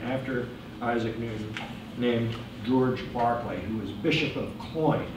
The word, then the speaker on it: Berkeley: not in the essay Barclay that's how you pronounce it British independence of course were